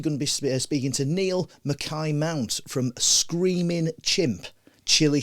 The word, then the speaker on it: Niall: Well, the Irish is 1 L. Right. The sort of they're all Gaelic anyway, but yeah, the Scottish is 2 L's and it's Niall. Right. So we're pronouncing that correctly. It's Niall, yeah.